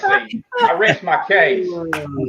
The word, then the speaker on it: Genesee: It's Genesee. Hey, go to the website. Go to YouTube. See what the company pronounces it. It's Genesee.